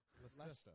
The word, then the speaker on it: Leicester: No, it's spelled like Lancaster. Oh no, that's Lancaster. Leicestershire. Leicester. That's Leicester.